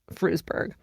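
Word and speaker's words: Frewsburg: It's November of 1980 in Frusburg, New York and it says pronounced exactly as it's spelled, Frusburg.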